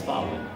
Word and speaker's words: Thawind: and then so it's Thawind. And if you say my name fast enough, the windmills.